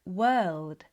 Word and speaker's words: world: The brain loves patterns, So, instead of practicing word, work, world in isolation, practice them in sound groups. So, the brain starts to connect the letter O with the er sound.